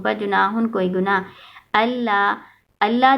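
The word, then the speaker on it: الله: अन ला के ना, नून साइलेंट है ना, लाम के ऊपर शद आ जाएगा तो नून साइलेंट हो जाएगा, अल्लाह ये पढ़ा जाएगा, ठीक है।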